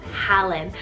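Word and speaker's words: Hallan: pal i have the name helen spell h-a-l-l-a-n helen i can also hear that alan in there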